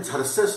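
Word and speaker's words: Xerxes: दिल्यानंतर लक्षात येईल हे इंग्लिश मध्ये झर्सेस लिहितात एक्स पासून स्पेलिंग चालू करतात झर्सेस नावाचा राजा होता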